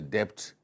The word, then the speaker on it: debt: not the be silent the be is silent but me was my